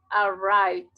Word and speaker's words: arrived: Entonces, cuando el verbo termina en un sonido que vibra, esta D se pronuncia como D. Entonces yo digo arrive, arrive, arrive con V, arrive. Suena como D. Arrive, arrived.